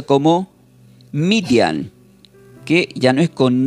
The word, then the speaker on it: Midian: Madian del hebreo se produce se pronuncia como median, que ya no es con ni eh latina,